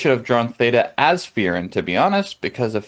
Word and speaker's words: Frieren: you were talking about Frieren. I'm gonna probably mess this one up, but I'm gonna give it a shot. Katakana, which is romanized as and pronounced as two syllables, Frieren, and not Fern, pronounced as Fern.